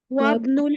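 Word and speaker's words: وَابْنُ: ওকে, তারপরের অংশ ওয়াবনুল হামিদিন feel জামিয়াতি। হামিদিন feel জামিয়াতি। Feel জামিয়াতি, ফিটা হারফ জার যেহেতু, তাহলে ওয়াবনু, এবার কিন্তু আর হামজার উচ্চারণটা থাকবে না।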